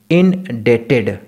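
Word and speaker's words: indebted: इसका प्रोनाउंसिएशन अच्छे से सुन लीजिए, मैं क्या बोल रहा हूँ, आई विल रिमेन इनडेटेड। इसमें बी को साउंड नहीं करते हैं हम लोग, इसको बी को प्रोनाउंस नहीं करते हैं। क्या हो जाता है? डेटेड, डेट समझते हैं, उसी का बस डेटेड। I will remain इनडेटेड टू यू, बी का साउंड नहीं आता है।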